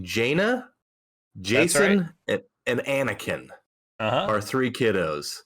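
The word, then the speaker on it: Jacen: yeah J A ceen I assume spelled just like the normal j a s o n or pronounced the exact same as just our classic Jason but we had to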